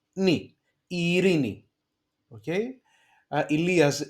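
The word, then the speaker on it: Ειρήνη: For example, Ilias, okay, and here we have one diphthong, epsilon iota at the beginning, e, ri, a second e sound, ni, Irini, okay.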